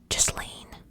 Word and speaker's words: Ghislaine: Now, in July 2020, his ex-girlfriend and longtime associate, I think her name is pronounced Ghislaine Maxwell.